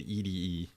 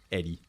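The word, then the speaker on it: ED-E: I always pronounced it ed. That makes sense. But yeah, Eddie, I I don't know why his why his diodes there are red.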